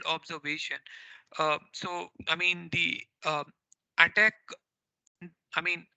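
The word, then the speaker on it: ATT&CK: so i mean the attack i mean attack is not the right pronunciation but people generally call it as an attack or i call it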